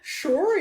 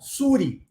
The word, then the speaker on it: sure: A resposta do professor é sure it is. Lembra, na aula passada eu falei sobre essa palavrinha, sure, que apesar de começar com um S, ela é pronunciada com som de X.